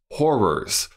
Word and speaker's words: Horrors: I really need to make sure I say that in two syllables. Horrors. Little Shop of Horrors.